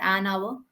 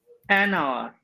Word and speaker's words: hour: h o you are in this one H is silent right so what is correct a hour or an hour an hour absolutely an hour uh